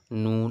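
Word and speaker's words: نون: সমস্যা বলার চেষ্টা করবেন নুন এটা হচ্ছে নাকের মধ্যে গুন্না হবে নাকের মধ্যে আওয়াজ আসবে ওটাই হচ্ছে নুন ঠিক আছে নুন হয়ে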